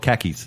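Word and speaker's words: Kashyyyk: yeah because it's k-a it's actually called khakis yes it's just so you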